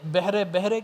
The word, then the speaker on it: بحر: صحیح کہا۔ اور یہ بحرے کیا ہوتا ہے؟ بحر بے قرار، سمندر، جی ٹھیک ہے نا۔ والذی سخر البحر، بحرہ ہم بولتے تھے، غلط ہے، تلفظ کی بڑی غلطیاں تھی۔ اور میں سمجھتا ہوں